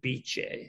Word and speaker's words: Bice: Yeah, Bice is short for the woman's name in Italy called Beatrice, who was the founder of Bice. So it's pronounced Bice.